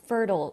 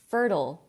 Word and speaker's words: fertile: right so what does fertile mean you guys and be careful with the pronunciation it's pronounced ill ill so if you're practicing say it out loud with me fertile fertile yeah it means